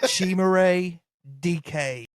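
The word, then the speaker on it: Chimere Dike: His name is Shimay DK. As a matter of fact, I got you, Cody. Shimare DK.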